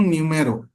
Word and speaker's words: Nuomhero: एच लिखा हुआ है लेकिन मैं पढ़ता हूं न्यूम मेरो यानी कि इन ब्रैकेट अगर मैं कहूं एनू एम आर जो न्यूमोल जीी से वर्ड निकला हुआ है न्यूम मेरो लेकिन यहां पर आप देखेंगे ओ एंड H both are silent तो यह एक टेक्निक